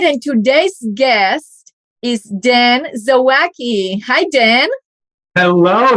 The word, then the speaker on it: Zawacki: today's guest is dan zawaki hi dan hello you even got my last name right nobody does that well you know we